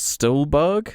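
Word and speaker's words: Stuhlbarg: never couple favorites yeah exactly got a Michaels Stolberg is how you say it yeah you see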